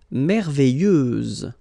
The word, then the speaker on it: merveilleuse: Merveilleuse, so final S, and then, what a surprise, you don't pronounce it.